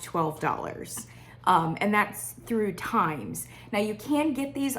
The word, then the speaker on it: Thymes: candle in this genre is from the company times times is spelled t h y n e s I